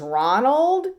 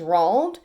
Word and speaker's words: Roald: A lot of people think his name is Ronald, but it's not. It's Roald, which is a little